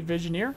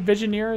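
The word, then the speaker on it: Vigenère: up being blase D visioneer if I'm pronouncing that correctly visioneer is how we've been pronouncing it which happens to be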